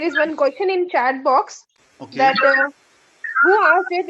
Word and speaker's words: beau: Urdu speakers or Hindi speakers, they can correlate this with the pronunciation of khushbo, bo. Same bo, same, exactly same. There is no difference. I mean, while pronouncing, not the meaning. Okay, this is beautiful, but it is pronounced in the same way as khushbo, bo, bo.